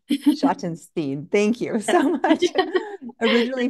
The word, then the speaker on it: Schottenstein: You're close. Schottenstein. Yeah. Schottenstein.